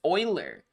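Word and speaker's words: Euler: there it all is uler is pronounced Oiler like any Oilers in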